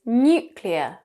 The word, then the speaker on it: nuclear: The correct pronunciation is nuclear. Make sure you get it right by saying nuclear. Nuclear. Now in North American accents, they will drop the y sound from the first syllable.